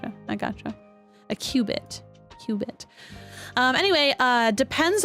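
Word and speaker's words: qubit: look this word up Qui quipped hold on pronunciation Cubit Cubit okay Cubit Cubit uh just like an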